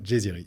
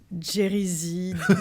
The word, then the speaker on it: Djeziri: ça va salut Nicolas merci déjà de bien prononcer mon nom de famille là ça fait plaisir ça se prononce comme ça ça se prononce comme ça pour les gens disent comment normalement jerryy ça va jusqu'à désirer j'ai tout eu ok B bah donc